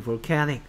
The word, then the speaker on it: volcanic: Volcanic. 그 다음에 화산은 뭐다? Volcano. 됐습니까? 오케이. 여기도 보면 여기에 이음절에 강세가 있어요. 그러니까 볼케닉이 아니고 볼케닉 이렇게 읽어야 되겠죠.